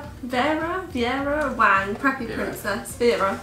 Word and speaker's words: Vera Wang: Vera, there we go, that's how you say it.